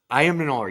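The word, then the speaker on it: Ayomanor: Ayamanor, how do you say his Alec name? Iamanor? Yeah. Ayamanor, yes. This kid was a boundary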